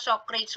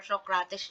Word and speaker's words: Socrates: So, if you notice yung sinasabi kong kay, pwedeng kasing bigkasin na Socrates or Socrates yung pangalan niya. So, it's acceptable, no? Baka nag-wonder kayo. So, sasabihin ko na. So, it's okay. Kahit anong bigkas yung sa kanya, sa name niya, is acceptable. Socrates or Socrates is acceptable.